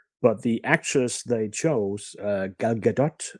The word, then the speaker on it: Gal Gadot: But the actress they chose, Gal Gadot, as I'm told she's pronounced, is easily, 30 centimeters shorter than the actor playing Superman.